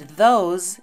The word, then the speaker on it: those: And those is pronounced those with a z or z sound at the end as well.